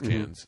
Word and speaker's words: Cairns: It's spelled Cairns. Okay, never mind. It's Cairns.